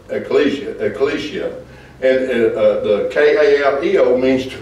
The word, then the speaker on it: ecclesia: I know it's not spelled that way but it's spelt ecclesia ecclesia and kaal means to call so it's referring